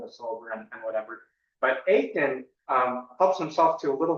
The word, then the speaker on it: Achan: So really quick, if you know of the story of Achan in the book of Joshua, in Hebrew it's pronounced Achan, but anyway, so the people of Israel go through one of the Philistine towns, right?